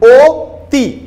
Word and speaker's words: অতি: আমরা কিন্তু অ এর মতো উচ্চারণ করছি না, আমরা অতি বলি, ও তি।